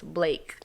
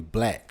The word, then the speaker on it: Blaque: Going to set that off right then, because, like, you say a lot of people call you Black. Yeah, they be messing my name up. Because how it's spelled, though.